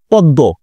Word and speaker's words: পদ্ম: মগ ম উচ্চারণ করেছি আমরা কি ম উচ্চারণ করেছি না স্যার ম উচ্চারণ করিনি যেহেতু ম উচ্চারণ করিনি